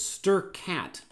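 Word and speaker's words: strcat: string copy function and then there's also this stir cat which is the equivalent of that string append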